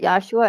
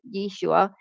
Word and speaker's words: Yeshua: Some people pronounce it Yeshua and others Yeshua depending on the root of where they're coming from.